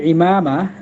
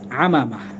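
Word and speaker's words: عمامة: এই যে শুরুর দিকে বাদিছে দামামা বাধেরে আমামা, অর্থাৎ আরবি শব্দটি ইমামা, আর কাজী নজরুল ইসলাম এটাকে একটু ব্যতিক্রম করে উচ্চারণ করেছেন আমামা, অর্থাৎ যুদ্ধের দামামা বাঁধছে, মাথায় পাগড়ি বাঁধো।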